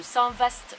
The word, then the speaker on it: Saint-Vaast: mal elle est prononcée j'ai appris que saint vaast se prononcer saint-vaast j'ai encore des efforts